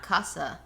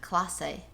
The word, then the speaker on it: Clase: It's not Casa. What is it? Clase. Clase? C-L-A-S-E. That's not how they pronounce it, though.